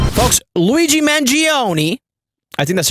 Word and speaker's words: Mangione: folks Luigi mangioni I think that's how you pronounce his name is in jail and he's